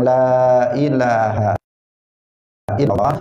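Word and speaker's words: لا إله إلا الله: Karena itu dia membacanya harus dibaca panjang lanya. Asyhadu an la ilaha illallah, ila juga panjang, Allah juga di situ lamnya dipanjangkan. Nah, tidak boleh dibaca pendek, misalnya mengatakan asyhadu an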